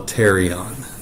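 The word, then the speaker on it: pterion: temporal bone together and that's what we call a terion now notice the spelling of that is PT R and just like the winged um dinosaur the pterodactyl the p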